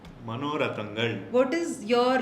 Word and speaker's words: Manorathangal: Manorathangal. Say. Manorathangal. Manorathangal. What is your like non-maluse problem with nga? Say nga. Manorathangal. Manorathangal.